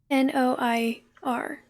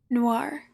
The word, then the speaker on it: Noir: thing yes it is it's then nor Noah n-o-i-r Noir thank you I knew how to pronounce it like I knew what was correct